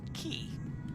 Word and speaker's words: Cay: But this is our last Virtual USA Flying Club member coming into Treasure Cay. I guess that's how you pronounce it. I thought it was K, but people corrected me and said Key.